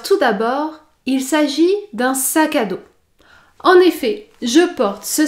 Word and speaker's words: sac à dos: éclair notez bien que pour prononcer le mot sac à dos vous devez effectuer l'enchaînement entre le mot sac et le mot à saka saka saka saka d'eau et la lettre s à la fin du mot sac à dos n'est pas prononcé daud daud sac à